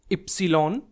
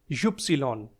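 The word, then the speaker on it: Ypsilon: सा ट्रिकी है फ्रेंड्स व को हम बोलते हैं एप्सलोलॉन या फिर युप्सिलॉन एप्सलोलॉन या युप्सिलॉन और नीचे है जेड लास्ट अल्फाबेट इसको हम प्रोनाउंस करते हैं सेट सेट।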